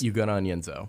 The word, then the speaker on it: Ugonna: DJ Wagner, Antonio Reeves, Justin Edwards, Tre Mitchell, and then help me pronounce this one, Lance. Ugonna.